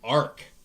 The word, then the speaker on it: Arch: suspicious to me is this thing called an ark but it's spelled like arch and this Ark is